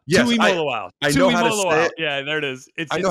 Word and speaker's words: Tuimoloau: Tuimoloau. Yes, Tuimoloau.